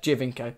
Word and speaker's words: Giovinco: Giovinco. That's how you pronounce it, I think.